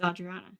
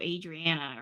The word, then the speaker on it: Audriana: I'm imagining actual Texas no it's Audriana what did you say are you saying I mispronounce my own name because I definitely did not call myself Adriana or whatever the